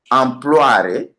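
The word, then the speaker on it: amploare: Les substantifs comme employare, il faut noter la prononciation, hein, comment je prononce ça en roumain. Employare.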